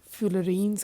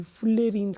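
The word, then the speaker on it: fullerenes: कोई बेटे इसे फ्यूलरीन्स कहते हैं, कोई फुलेरीन्स कहते हैं. So there are different names pronunciation depending upon the reasons. So आई यूज to call it फ्यूलरीन्स.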